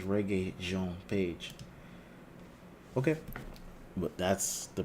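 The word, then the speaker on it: Regé-Jean Page: more reggae Jean page all right it says reggae Jean page okay but that's the pronunciation so I'm gonna go with that it says reggae Jean page nice nice all right so Chris Pine was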